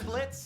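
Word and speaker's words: Blitzø: I'm Blitz. The O is silent.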